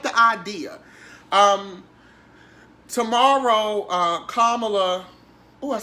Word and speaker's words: Kamala: Tomorrow, Kamala, I said it right.